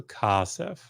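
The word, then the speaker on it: כָּסֶף: And so they go from this short E vowel to a long A vowel. So kasef, kasef. Now, this happens in another very important place, right?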